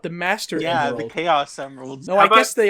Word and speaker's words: Chaos: I had a friend who used to pronounce him as Chows. Chows.